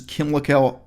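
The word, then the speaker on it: Kymlicka: This is Kimlicka. Kimlicka is spelled with a K and a Y. You can guess the rest.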